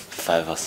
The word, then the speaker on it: Fivers: Du warst vorher bei den, jetzt muss ich mal fragen, ist es Fivers oder Fivers? Fivers. Fivers, ne? Ja. Also englisch ausgesprochen.